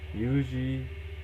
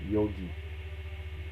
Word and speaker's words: Yogi: someone has last name yogi yeah yogi is same as yuji it's just a japanese pronunciation or real traditional pronunciation